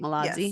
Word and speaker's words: Malazzi: Max Malazzi is her name, right? That's how you say it, Malazzi. Yes, Malazzi.